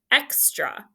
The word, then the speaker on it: extra: Now, extra is just a regular closed syllable with that short E, but that is your schwa here. It's not saying extra. Okay, that's your schwa, and it's the open syllable exception.